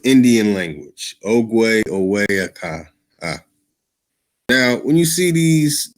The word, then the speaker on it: ögwé’öwe: So ögwé'öwe is also pronounced okwe.